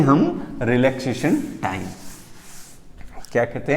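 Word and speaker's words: τ: तो इसको टॉर्क नहीं बोले, टॉर्क तो एक फिजिकल क्वांटिटी है, फिजिक्स की क्वांटिटी है, लेकिन टॉ जो है वो साइन को प्रोनाउंस करते हैं इस तरीके से।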